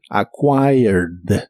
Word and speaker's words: acquired: el pasado es acquired es un verbo regular Así que termina con e d en el pasado pero solo se pronuncia la d acquired acquired en el pasado lo